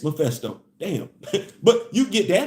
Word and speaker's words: Mephisto: It's pronounced Mephisto. All this time I've been saying Mephisto. It's Mephisto.